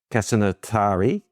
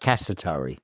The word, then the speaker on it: Casatari: With me today is Casanatari. Did I pronounce that right? No, I didn't. Casatari. Sorry. No, just Casatari. Casatari. That's Casatari. perfect.